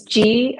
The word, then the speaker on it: Gorgias: She wanted to know if the gorgeous, uh, customer management system was spelled gorgeous like you look gorgeous, or if it's spelled Gorgias. Yes, it's Gorgias.